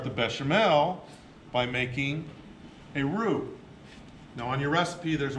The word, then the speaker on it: roux: bechamel by making a roux now on your recipe there's word ro UX it's pronounced blue the X is silent it's a French word and it's the thickening